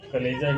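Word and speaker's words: chalaza: सबसे पहले तो कलेजा हो गया, इसे चलेजा मत पढ़िएगा, कलेजा ही इसका प्रोनाउंसिएशन होता है।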